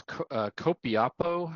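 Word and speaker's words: Copiapó: It's Copiapo, I believe is how it's pronounced, Chile.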